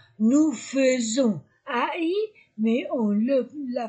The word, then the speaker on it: faisons: 21 décembre prononciation nous faisons ai mais on le la prononce e faisons comme fenêtre bon et le contraire